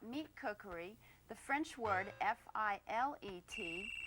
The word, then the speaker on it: filet: If you're speaking about meat cookery, the French word F-I-L-E-T, it's pronounced filet.